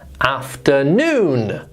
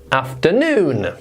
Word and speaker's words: afternoon: Okay, I don't think this is too difficult, but look where the little apostrophe thing is. It's in the middle, which means that we stress the last syllable there. It's after, and then we stress afternoon, afternoon.